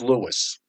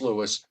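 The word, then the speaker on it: Lewes: A A Y T on the chat board says it's pronounced Lewis. That's what he says. Um, okay. I take your word for it. It's Lewis.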